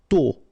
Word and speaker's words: tôt: Tôt. Okay, final D not pronounced, and then this O accent circonflexe is a bit stronger than normally, so tôt.